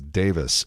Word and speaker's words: Davies: I think that even though it's spelled Davies, the British pronunciation is Davis.